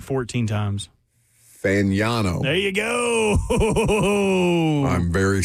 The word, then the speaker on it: Fagnano: Fagnano.